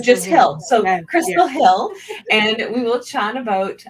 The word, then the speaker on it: Hille: This week, I'd like to introduce Kristal Hille. And actually, I forgot to ask you, do you actually pronounce the E at the end? No, you don't. It's just So Kristal just Hill. So Yeah, Kristal Hille, and we will chat about author archetypes.